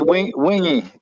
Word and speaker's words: Wingy: Yeah, he said it's wingy. Yeah, I saw him in a chat feed. I think he said wingy. Yep. Yeah, with like 3 E's.